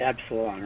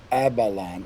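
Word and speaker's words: Aballon: And you're saying Avalon and not Absalon, right? Abalon, A-B-A-L-L-O-N.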